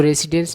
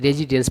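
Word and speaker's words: residence: मतलब आवास होता है इसको रेसिडेंस नहीं पढ़ना है रेजिडेंस पढ़ना है ठीक है और प्रेसिडेंट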